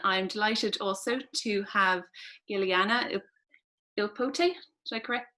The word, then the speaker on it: Giuliana Ippoliti: And then I'm delighted also to have Giuliana Ippoliti. Did I pronounce that correctly?